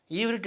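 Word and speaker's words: עברית: ஈவ்ரிட் என்றால் எபிரேய மொழி என்று பொருள். இது எபிரேய மொழியை இப்படி தான் உச்சரிக்கணும், சொல்லணும் இவ்ரிட் அப்படின்ட்டு. இப்போ நம்ம பிற்காலத்தில் அது ஹீப்ரு, எபிரேயம் என்று மாறிப்போனது. கரெக்டான உச்சரிப்பு ஈவ்ரிட் அதுதான்.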